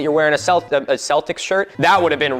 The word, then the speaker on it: Celtic: Celtic with a hard C or K is the standard.